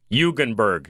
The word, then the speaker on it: Jugenburg: are perfect thank you the J is not only silent but it's a different letter uh yes yes all right so uh Dr hugenberg uh first of all